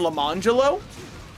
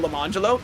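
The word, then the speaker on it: Lemonjello: her twins Orangelo and Lamangelo. And you might say, oh, what are they named after? Yeah, it is spelled orange jello and lemon jello.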